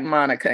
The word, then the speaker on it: Monica: um as you said my name is Monica but it's spelled like Monica m-o-n-i-c-a I prefer the pronunciation Monica that was my mom's intention and so that's first kind